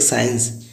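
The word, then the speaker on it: science: Next एक साइंस, SCIENC, साइंस का अर्थ है विज्ञान। देखिए इसमें एस के तुरंत बाद हमारा सी आया हुआ है, देन हम सी को साइलेंट पढ़ते हैं।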